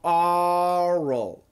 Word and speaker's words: oral: Now, for the standard American pronunciation, this is a long O, and this is an AW. Okay, so the standard perfect pronunciation, oral, oral, oral. And what we have happening is basically the O, remember, it's O, right? But not with an R. When it's O with an R, it's or, okay? It changes. And then we have oral and the schwa L, okay?